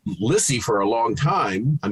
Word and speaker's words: Lissie: you know z's and i was lizzy for most of my life even though it was always spelled with s's i'd just be like whatever it's fine lissy lizzy so there was always